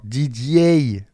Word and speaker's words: Didier: Didier, c'est un prénom que t'es obligé, quand tu le prononces en Belgique, de mettre un Y à la fin. Didier, vous voyez?